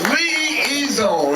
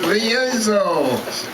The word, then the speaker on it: Liuzzo: for Viola Liuzzo, and let's learn how to pronounce her name. I've heard so many people screw up that it's Liuzzo. It's easy, Liuzzo. And did I do it right? It's Liuzzo.